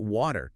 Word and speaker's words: water: Now, let's look at water. W A T E R In American English, the T becomes very soft. It sounds almost like a D. Water. Water. It's called flapping.